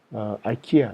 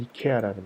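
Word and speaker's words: IKEA: 아이키아 위에 설명했다시피 한국식 발음으로는 이케아라는 곳이죠.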